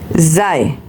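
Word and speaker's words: sie: Next one is sei, meaning she, sei, it's sounded start with Z, which later on I will tell you why.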